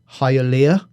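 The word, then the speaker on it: Hialeah: This guy grew up in, I might say this wrong, Hyia. I think that's how you pronounce it, which is just north of Miami airport.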